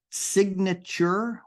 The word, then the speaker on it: signature: so just to note signature we pronounce that g in there Sig signature in the